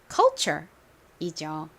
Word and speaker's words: culture: 의미였죠 바로 문화이죠 발음은 culture이죠 한번 더 따라해 보실게요 culture 한글로 쓸 때는 보통이 ture를 아니라 척 요렇게 쓰는 경우가 많다라는 것도 더불어 설명드렸습니다 자